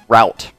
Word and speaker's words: route: Okay, do you guys pronounce it route or root? Because I've said it a couple times and I keep saying root. But really, I want to pronounce it as route. I really think that's the proper pronunciation of that word.